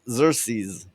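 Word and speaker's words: Xerxes: held off Percy King xerses is how you say it xeres SE okay they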